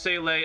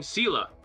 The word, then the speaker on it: Seele: And in the Japanese, it's also pronounced Seele as well. But that's how they always have pronounced it. So like, I thought it was Seele. But then when Honkai Astral came out, every single actor and actress in the game has been saying Sela.